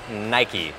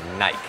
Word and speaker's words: Nike: và người Mỹ vì người Anh đọc là Nike. Và mình xin được nói là trong sự bất đồng này thì người Mỹ đúng. Bởi vì Nike là một hãng Mỹ, tên của nó xuất phát từ một vị thần Hy Lạp. Tên đó cũng đọc là Nike. Cho nên mỗi lần đang nghe người Anh nói Nike thì cứ thấy sai.